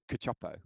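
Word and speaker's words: Cacioppo: butchering his surname but i believe it's pronounced cachopo yeah and some of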